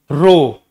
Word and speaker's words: rho: इसको प्रोनाउंसिएशन कैसा होता है इसका, RHO, रो, ये इसका प्रोनाउंसिएशन है, ठीक है।